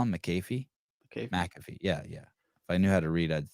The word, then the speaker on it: McAfee: a regular on this show this uh Pat McAfee show and uh he's talking about our say it again Pat McAfee Pat McAfee Pat Mackey what I call him McAfee okay McAfee yeah yeah if I knew how